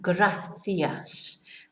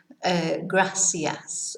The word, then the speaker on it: gracias: So the classic, if you like, pronunciation of how the C should be pronounced when it's followed by an I or an E is th, like gracias. But in Murcia, you will hear gracias or Murcia, right? So you will hear it pronounced not lisped, but more like an S.